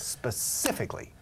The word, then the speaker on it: specifically: Specifically. Do you go specifically No. to buy? No, escucha. Está bien. Lo has dicho bien, pero saltamos una sílaba. Specifically. Okay. Specifically. Specifically.